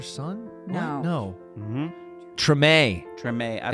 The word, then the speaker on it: Treme: Treme. Treme. It's not Treem.